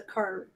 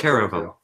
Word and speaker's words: caravel: Well, the fastest ship we have available right now is a Carville. Carville? Carville? Carabel. How do you say that? Caravel. Caravel. I butchered that word.